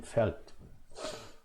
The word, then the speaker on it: fällt: Der Vorhang fällt. Vorhang, the curtain. So hang, okay, whatever. So Vorhang, the curtain fällt. The curtain felt, like in English, the pronunciation is the same, felt.